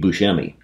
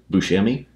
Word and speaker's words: Buscemi: Pink was Steve Buscemi.